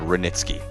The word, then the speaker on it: Hranitzky: Yeah, that's either a silent H or a really loud Hranitzky.